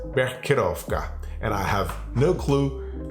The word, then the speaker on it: Becherovka: And that's the way you pronounce it. Becherovka.